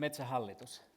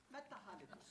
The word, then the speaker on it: Metsähallitus: How do you pronounce it? Metsähallitus. Metsähallitus.